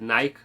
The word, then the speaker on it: Nike: a large percentage of the UK audience proclaiming it as Nike.